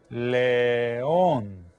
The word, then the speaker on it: León: Olne is going to be león. Try to say the letters as you spell it out.